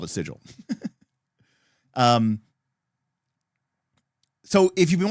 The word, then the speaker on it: Sigil: you know um is that that um they pronounced it as sigle in one of their later videos well they can name their project sigle whatever they want they can call it sigle but plcape called it sigil um so if you've been watching the show